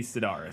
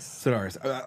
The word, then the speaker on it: Sidaris: Andy Sidaris. Sidaris.